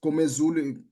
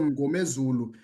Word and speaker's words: Ngomezulu: and you said, quote, remove the M and the N and just Gomezulu, close quote, instead of Ngomezulu.